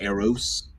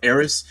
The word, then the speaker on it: Eris: Haumea is also a dwarf planet, and then we also have here Make and Eris, not Eros, Eris, and there's a ton of other ones.